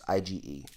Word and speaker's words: Ige: Santiago and Dan I don't know how to pronounce his last name i Gor EGH it's IgE for those yeah I never heard of him